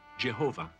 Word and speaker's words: Jehovah: god whose name modern Scholars reconstruct as Yahweh and many Christians pronounce Jehovah very Orthodox Jews traditionally